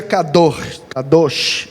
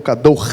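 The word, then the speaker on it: קדוש: Santidade, seja kadosh, né? Ou kador. Eu prefiro a pronúncia gutural, fica mais perto, né? Do que é de fato.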